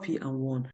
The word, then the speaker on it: PWAN: w a n but the pronunciation might be like P and one but the the pronunciation